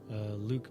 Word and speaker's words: Luc: wrote it was it director is Luke Vincent Besson but it's spelled Luc so I'm not sure I